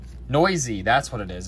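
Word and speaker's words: Neuse: on a 99 very very nice shell denise noose noisy that's what it is it's sheldon noisy which i would have never guessed that's how you pronounce that last name but it is yeah sheldon noisy so tomorrow i have an 8 am and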